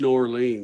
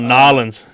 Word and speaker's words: New Orleans: walking the streets of new orleans no it's called nollens say it right nobody's walking through there